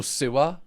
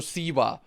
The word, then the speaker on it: Siwa: Also, so many people in the previous video I did on JoJo Siwa, I was thinking that I'm saying JoJo Siwa. Like a sewer. Apparently I say it wrong. Apparently it's JoJo Siwa.